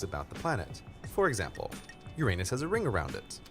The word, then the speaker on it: Uranus: where i grew up i learned that the name of the seventh planet is pronounced uranus of course to a kid uranus sounds an awful lot like your anus which is how i